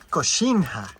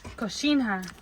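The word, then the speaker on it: coxinha: Cochinha. Cochinha.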